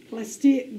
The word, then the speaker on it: plastic: a plastic bottle or plastic bottle what do we say we say plastic we put the emphasis on the first syllable okay so i said